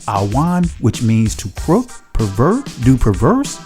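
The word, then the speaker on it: עָוֹן: the law the Hebrew word for iniquity is pronounced Awan which means to pro pervert do perverse do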